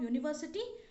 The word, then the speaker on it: university: sound of y u university starting with y therefore it is a